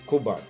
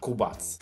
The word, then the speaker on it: Kubac: the username kmba into kubak or if you want to be more faithful to the pronunciation of my name you can use Polish accent which is going to be kubats so I'm pretty sure